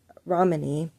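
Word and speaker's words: Ramani: Romani, which apparently I have been mispronouncing her name. I do apologize. It's Dr. Romani, calls the Darvo method, and that is denial.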